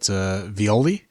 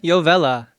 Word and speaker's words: Yovella: And Dan, maybe I'm getting his last name wrong, but Violi, I believe. Was that right, Christian? Yovella.